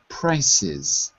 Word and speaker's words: prices: past the past sorry sometimes the ending of the plural has an extra syllable so we don't say premium price we say premium prices prices oh yes okay